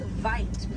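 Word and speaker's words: wyd: Original word for white rhino was vite. Vite means wide in Afrikaans, but over time it was misheard and mispronounced and it turned into the white rhino.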